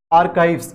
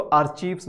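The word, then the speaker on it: archives: बहुत सारे लोग इसको आर्चीव्स बोलते हैं, आर्चीव्स बोलना गलत है, इसका करेक्ट प्रोनाउंसिएशन होता है आर्काइव होता है।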